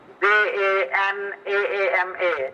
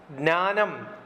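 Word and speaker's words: ज्ञानम्: I'm sorry, sir, I'm unable to pronounce that Janaama. Actually, I'm unable to pronounce that term. That is Jnanam. Jnanam is knowledge in Sanskrit. Okay, Jnanam. Yeah. The J is silent.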